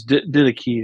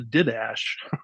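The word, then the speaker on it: Didache: what it uh yeah I think it's did key is how you say ke okay yes excuse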